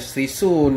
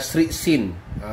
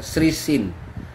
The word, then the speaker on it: Sresthin: Tajuknya bukan Srisun. Ini ejaan silap ni. Dia ialah Srisin. Srisin. S-R-T-H-I. Itu ejaan dia.